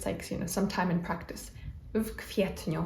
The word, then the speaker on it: w kwietniu: And this one is maybe a little bit tricky to pronounce because we have the preposition w and then the next letters in the next word are K and then again W, which kind of creates this vk sound.